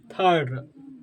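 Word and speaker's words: third: आप लोग क्या होगा यदि किसी व में आई के बादर हो तो आई को अ क्या होता है अ आई को अ प्रोनाउंस किया जाता है क्या किया जाता है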